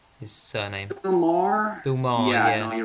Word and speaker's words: Maher: How do you pronounce his name? His surname. Bill Maher.